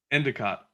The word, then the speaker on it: Endicott: How do you pronounce the last name, by the way? Endicott. So like Endicott College.